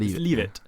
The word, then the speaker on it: Leavitt: Leavitt. Oh, that's not Leavitt. It's not Leavitt. Leave it. Leave it alone.